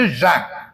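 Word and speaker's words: Jean: അങ്ങനെ പത്മോസ് ദ്വീപിൽ ചെന്നിട്ട് ഉമർ റളിയല്ലാഹു അൻഹു യോഹന്നാനുമായിട്ട്, ജോണുമായിട്ട്, ഫ്രഞ്ച് ഉച്ചാരണം അനുസരിച്ച് ഴാൻ, ഈ ജോണുമായിട്ട് അല്ലെങ്കിൽ യോഹന്നാനുമായിട്ട് സംഭാഷണം നടത്തുന്നതായിട്ടാണ് പിന്നെ യൂഗോ സങ്കല്പിച്ചിരിക്കുന്നത്.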